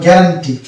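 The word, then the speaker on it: guarantee: দীর্ঘ ইটা হলো গ্যারান্টি এখানে কিন্তু ইউ সালেন্ট হবে কেননা ইউ এর আগে আছে জি ইউ এর পরে আছে ভয়ে তাহলে এখানে কিন্তু গ্যারান্টি অর্থাৎ ইউ সালেন্ট পেলাম তারপরে চলে আসি এখানে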